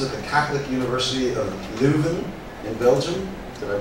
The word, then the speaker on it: Leuven: Zamora studied social and political sciences at the Catholic University of Leuven in Belgium. Did I pronounce that right? Leuven? Lo pronuncié bien?